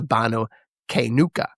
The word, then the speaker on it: Qaynuqa: This is the the Banu Kuka. Q A Y N U Q A.